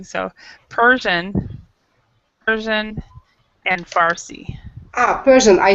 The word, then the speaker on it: Farsi: yeah and i and i kept trying to say parsi just like you did we were both getting it wrong so persian persian and farsi ah persian i say